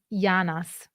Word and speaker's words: janas: yeah and in Sardinian so janas would be pronounced in Neapolitan yanas so you can see